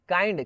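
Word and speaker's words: kind: काइंड, किंड नहीं बोलते इसको, इसको क्या बोलते हैं, काइंड बोलते हैं, आई प्रोनाउंसिएट हो जाता है यहाँ पे, ठीक है।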